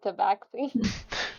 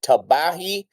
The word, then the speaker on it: Tabaxi: He's like a baby tabaxi. as you Actually, it's also acceptable to pronounce it Tabahi and Tabashi. All three are acceptable.